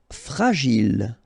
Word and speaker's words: fragile: Fragile. Okay, final E not pronounced. And then when you get this G and I, J. Gilles. Fragile.